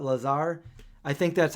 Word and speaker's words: Lazar: it Bob Lazar yeah it's like laser but lot Lazar I think that's how